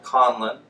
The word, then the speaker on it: Conlon: no silent letters.